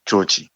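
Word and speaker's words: George: 조르주, 조지. 이 조지를 영어식으로 발음하면은 조지 엘리엇, 그리고 프랑스어로 하면 조르주잖아요.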